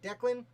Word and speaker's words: Declan: I believe it's pronounced Declan, though I saw at least 8 different spellings.